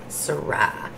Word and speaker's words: Syrah: gonna get loud guys lewis wayne said accent at the second syllable it's a variety of wine that's right i know i now i remember syrah brian must know their